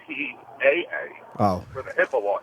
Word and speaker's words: HIPAA: It's not HIPAA, HIPPA. It's HIPAA.